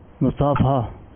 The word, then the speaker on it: مصافحہ: درست تلفظ کیا ہے؟ مصافحہ. مصافحہ. فحا. آپ نے جواب دیا مصافحہ، یہ درست تلفظ ہے، مبارک کے 2 نمبر حاصل کر لیے.